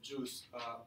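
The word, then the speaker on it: Guice: have heard of of juice written like this pronounced like juice it's a dependency injection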